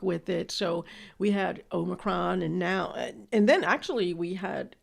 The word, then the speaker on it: Omicron: I mean, if you went to college and you were exposed to Greek organizations, you should know it's Omicron, not Omicron.